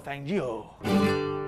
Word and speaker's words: Fangio: Anyway, back in the day, the car was driven by Juan Manuel Fangio. Fangio. Fanio. I said it right first.